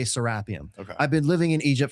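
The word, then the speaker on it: Serapeum: So, let's talk about the sarapium. Okay. People say serapium. You you corrected me.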